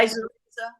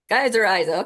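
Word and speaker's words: Geissorhiza: And the South African, how you pronounce it again? Gizoria? Gizor? Yeah. Geyseriza. Geyseriza.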